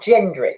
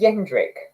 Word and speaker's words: Jendrik: I think, am I pronouncing it wrong? Is it not Gendrick? Is it Jendrik? I keep saying Gendrick, so I'll just keep saying Gendrick.